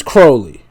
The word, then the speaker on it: Crowley: Osbourne mispronounces Crowley's name. Oh, so it is Crowley. It's Crowley.